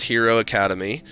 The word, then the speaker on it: Hiro Akademi: is just the beautiful Park is called or pronounced Hero Academy and I'll put the